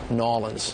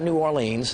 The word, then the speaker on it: New Orleans: Nolans. Nolans. Nolans. It's just real easy, lazy. Nolans. Just Nolans. How's that? Nolans. Yeah, not New Orleans, not New Orleans, just Nolans.